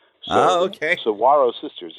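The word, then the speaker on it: Saguaro: a w so okay Saro sisters it's spelled with a G but pronounced with a W Saro borrow trees that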